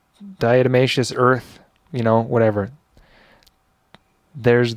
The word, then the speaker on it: diatomaceous: even looked this up earlier to figure out pronunciation of it diatomaceous diatomaceous earth you know whatever there's the card here